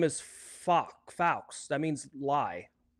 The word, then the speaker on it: faux: But his name is Faux. That means lie.